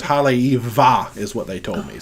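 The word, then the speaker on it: Haleʻiwa: believe is what i learned was the proper pronunciation now so haley eva that's it that's my definitive pronunciation look y'all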